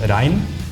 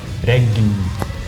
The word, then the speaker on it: regn: So in Norwegian it's the same written, but then in Norwegian it's pronounced rein, and then in a more Swedish Rein. accent you would pronounce a G, so then it's more like regn.